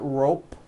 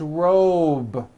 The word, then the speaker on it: robe: It's not rope with an unvoiced P. It's robe.